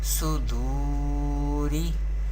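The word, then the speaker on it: صدور: or heavy voice, and here vaw is sakin, and there is pesh before vaw sakin. Therefore here is vaw madda rule is happening here, and we pronounce vaw madda by stretching up to one alif or two harkat. We pronounce like this: suduri, suduri.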